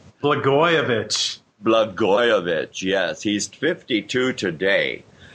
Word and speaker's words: Blagojevich: And we have to send birthday greetings out for the 52nd birthday of Rod oh my gosh, what do you pronounce? Blagojevich.